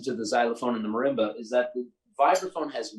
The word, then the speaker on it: marimba: Can you explain the difference between the vibraphone, the xylophone, and the marimba?